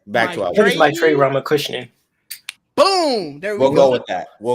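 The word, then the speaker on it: Maitreyi Ramakrishnan: My Trey Ramakrishnan. That's how they pronounce it.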